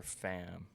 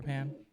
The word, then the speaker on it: Pan: gonna talk about Jennifer fam. Jennifer fam. I feel like I've you probably heard or I'm not saying it right. I think it's Pan. Jennifer Pan. Sorry.